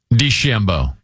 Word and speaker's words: DeChambeau: Do you like saying DeChambeau or DeChambeau? DeChambeau. See, I like the emphasis on the second syllable. I like DeChambeau.